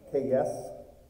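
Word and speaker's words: קֵץ: By the way, the Hebrew word for summer, kayis, sounds like the word for end, kayes. Interesting.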